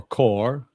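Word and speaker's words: ก: So this symbol is gore or core but we pronounce it gore with a g and we associate it with guy.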